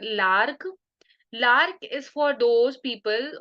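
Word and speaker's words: Larch: 19 medicine इ लार्क इसे लोग लार्च भी बोलते हैं बट I pronounce it लार्क लार्क इज for those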